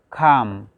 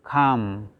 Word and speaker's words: calm: And then we have calm. Calm. We don't have to pronounce this L, just we have to say calm.